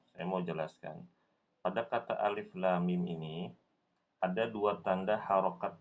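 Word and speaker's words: الم: Nah, saat membaca lam ini dia panjangnya 6 harokat. Mim juga sama, 6 harokat. Ya, jadi cara bacanya adalah alif lam mim.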